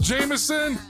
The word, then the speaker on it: JMSN: This group is called Jameson. They spell it JMSN.